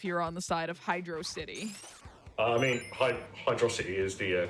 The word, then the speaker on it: Hydrocity: chat were wrong yep why would you pronounce it as two words but it's one word oh i got the